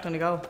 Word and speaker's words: Donegal: And you're pronouncing it right, too, so that's a great start. Yeah. Donegal.